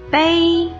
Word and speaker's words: 杯: 泡杯茶，杯。第一声调，部首是木字旁。